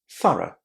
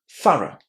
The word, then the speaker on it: thorough: So, this word is pronounced as th at the beginning with a short a th and then all of these letters here at the end are just two sounds. R. Again, that very, very small vowel sound at the end.